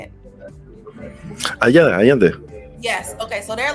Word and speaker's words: Allende: Allende.